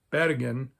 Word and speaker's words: Bergen: So why is there a mountain in Bavaria next to a town called Bergen, pronounced like how most Norwegians would actually pronounce that word, that sounds very much like a Norwegian name for a mountain, Hochfällen.